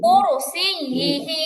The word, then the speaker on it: كرسيه: এখানে আইনের উচ্চারণ মানে আইনের কোনো উচ্চারণ নাই, ইয়া বলতে গিয়ে অনেকের আইন হয়ে যাচ্ছে, কুরসিয়ি আই হবে না, কুরসিয়িহি। ই ই কুরসিয়িহি কুরসিয়িহি।